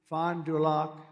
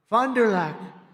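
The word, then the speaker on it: Fond du Lac: victims and he did earlier this year in Fond dulock Wisconson fondak nice I love these names I wish I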